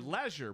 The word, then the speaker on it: leisure: can watch at your leisure. Your leisure, Brittany Page. Is that how you say it? No, it's leisure. Okay. I mean, Wayne from the UK would probably say leisure.